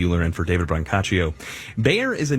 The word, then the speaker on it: Bayer: that's a mouthful and germans pronounce bayer buyer but we're going to stick with bayer so anyway ask bio